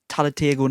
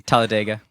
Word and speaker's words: Talladega: up there with one i also like um talentego knights i never pronounced it correctly talladega it's so good i prefer talladega over step